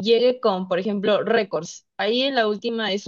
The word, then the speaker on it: récords: Bueno, lo que pasa es que, ¿qué pasaría si viene una pregunta, bueno, una pregunta tipo grave y llegue con, por ejemplo, récords?